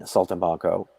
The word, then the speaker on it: Saltimbanco: Saltimbanco, yeah, the original, one of the, it's the oldest touring show.